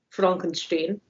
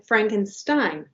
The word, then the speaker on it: Frankenstein: one being Young Frankenstein, rhyming with Ovaltine, Frankenstein. And that is playing at the Eureka Theater on the 26th on this Saturday. And we have the Arcada Theater Lounge showing Frankenstein.